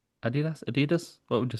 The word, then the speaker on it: Adidas: Um, would you say Adidas or Adidas? Firstly, I say Adid Adidas. Adidas. Adidas.